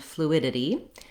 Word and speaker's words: fluidity: Today's request was for the words humidity and fluidity. This viewer was talking about how it was difficult for them to pronounce the ditty ending. So the suffix ditty has two flap sounds, and it's challenging.